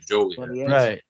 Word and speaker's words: Joliet: e t yeah yeah J not like Romeo and Juliet jolet yeah yeah in the